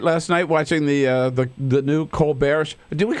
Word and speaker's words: Colbert: Colbert. It's funny, when he went to Northwestern many years ago, it was Colbert, but then somewhere along the line he changed it to Colbert, so he's sticking with that pronunciation.